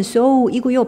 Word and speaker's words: sew: 얘가 원형이 SEW다. 발음은 sew이고요.